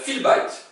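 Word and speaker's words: في البيت: Fi al bait. Sauf qu'on va concaténer et le a va sauter. C'est-à-dire fil bait. Hiya fil bait. Elle est dans la maison.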